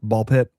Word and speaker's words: Ball x Pit: I don't know if they pronounce the X or not, but you don't. No. Okay. So, it's ball pit.